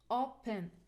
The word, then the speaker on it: open: word we have here open two syllable words o pen okay as a general rule we said verb stress or the stress on the second syllable you see the peak here is the schwa sound the schwa sound is the weakest we cannot stress it so we put the stress on the first syllable okay what about NV